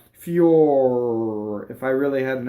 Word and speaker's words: fior: Fiore, it's a closed O, and the full word is fiore with an E at the end, right? And this one they cut it off for the poetry, so it rhymes. Fior, right? We tend to open in, especially Americans, tend to open before an R. Fior, no, fior, right?